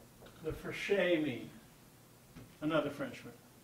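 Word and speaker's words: Fréchet: gets the name the fresh Amy another Frenchman if you want to really sound cool you roll your R like a Frenchman and you say the eat the first aid like an a h anyway fine uh the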